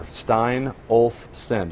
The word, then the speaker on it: Steinolfson: Three different syllables there. Steinolfson, just like it sounds.